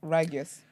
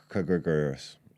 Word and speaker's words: Kyrgios: Probably one of those where the K is silent, so Kyrgios. I should know this.